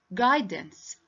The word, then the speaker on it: guidance: can't hear the u so the u letter is silent the u sound is silent what do you mean